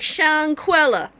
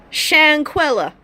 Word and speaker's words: Chawnquela: bestow a beautiful baby with the name like shank Wella and that is how the name is pronounced shank Wella it is spilled Shawn kwela but it is